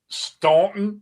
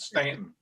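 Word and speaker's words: Staunton: Did you just call the valley the town called Stuntton? You know damn well these rednecks and hillbillies down here pronounce it Stanton.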